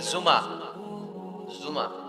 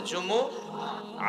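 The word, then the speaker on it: جمعة: জুমহ অনেকে বলে ফেলে জুমা জুমা আসলে আরবিতে শুদ্ধ উচ্চারণটা হচ্ছে জুমু আহ আহ সূরাতুল জুমু আহ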